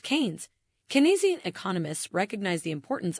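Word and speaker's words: Keynes: Canian economics named after the economist John Maynard Kanes pronounced Canes.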